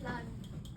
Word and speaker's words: plan: En français, si j'ai pas de voyelle après la consonne, je le prononce pas. Oui, c'est plan. Non, je veux le prononcer moné. Oui, je peux faire plan. Non, sinon je va faire planète planète plan.